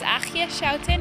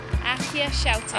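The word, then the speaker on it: Aagje Schouten: My name is Achia Schouten. It's spelled AAGJESCHOUTEN. All right, say it one more time. Achia Schouten.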